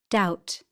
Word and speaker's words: doubt: The letters below in bold are silent in the examples. P, psychic, psychiatry, pneumatic, receipt, pseudonym, psychology. B comb. Dumb. Numb. Tomb. Climb. Womb. Lamb. B. Doubt.